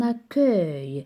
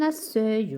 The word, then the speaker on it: accueil: Exemple, un recueil ou bien un accueil. Si j'écris E avant U, ça va se prononcer un accueil ou bien un recueil qui n'a pas de sens.